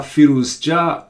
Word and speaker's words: Firouzja: my game of the day is ali reza feels jah against Vladislav Kovalev thank you very much the calves for advice on pronunciation so here we go the 16 year